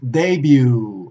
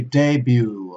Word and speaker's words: debut: EU t which is debut ok debut ok be careful don't pronounce the T and now let's take